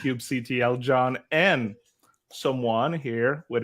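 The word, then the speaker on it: kubectl: you and Jared but like when you say Cube cdle I I always put the ban here it's pronounced Cube CTL John and someone here with us today agree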